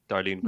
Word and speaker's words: Darlene Greene: I am pronouncing it correctly, right? Darlene Greene. Yeah, that's perfect.